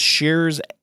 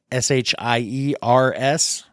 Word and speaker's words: Shiers: places to go, but your last name is Shiers, Shiers. So people spell it right.